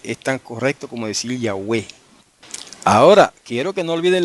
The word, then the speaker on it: Yahweh: Pero en griego se escribe como iota, alfa, upsilon, epsilon. Y eso se lee, no hay otra manera de leerlo en griego, eso se lee Yahweh. Todas son vocales. Yahweh.